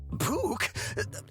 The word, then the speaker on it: Puk: Puke. What are you doing here? Okay, so it's pronounced puke.